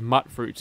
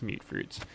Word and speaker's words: mute fruits: I always thought of them as mutt fruits until one of the NPCs actually referred to them as mute fruits. Which I guess from the way it's spelled, M-U-T, wouldn't act... Yeah, it's mute fruits.